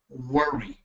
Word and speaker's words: worry: No worry in But you don't you don't roll your Rs. You say worry.